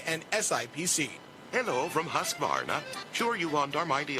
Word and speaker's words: Husqvarna: know you can't pronounce Husqvarna, the name that means craftsmanship all over the world. So I teach you now how to say Husqvarna. You say husk like corn and varn like varnish without the ish, and nah,